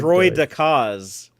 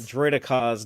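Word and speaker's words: droideka: They're called destroyer droids or droid decas. Oh, decas. Droidicas, not droid. I said it wrong. I was saying decas.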